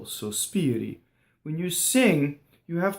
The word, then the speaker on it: sospiri: The first syllable had two S's, right? I can't phonate. So when you're singing and you're singing kind of slower than speech, you don't want that S to be hissing on the first note. So, sospiri. You can also practice so, stop, spiri. Sospiri. Okay, so notice that the RI is just a flipped R. It's not a rolled R, and it's not an American R.